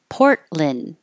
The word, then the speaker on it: Portland: pulpit parchment parchment paper Portland you can say Lin or Lun either one but you won't hear the T and you won't hear